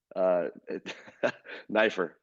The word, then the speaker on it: Neiffer: But I think he appreciates the fact that people know how to pronounce it now. And you're Neiffer. Neiffer.